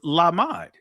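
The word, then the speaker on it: למד: So the ancient Hebrew pronunciation for the word disciple is lamad, right?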